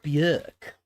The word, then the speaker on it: Björk: Vespertine went off Bjork a little bit. Björk, sorry, saying her name wrong. Björk.